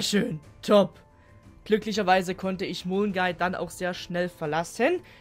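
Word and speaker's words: Milngavie: Ja, es war ein reinstes Abenteuer und dann bin ich irgendwann gegen 3 in Mulgay, was Milgavy ausgesprochen wird, weil die Schotten wollen mich ärgern anscheinend, gelandet.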